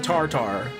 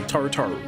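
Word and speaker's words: Tarutaru: They're like, I'm some hawking Rogen and now Malalafell or in this case a Gala turn into a Tartar. Tarotu. Sorry. Say it. Say it properly. Tarotu.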